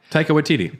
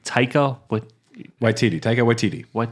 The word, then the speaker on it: Taika Waititi: Taika Waititi. Taika Waititi.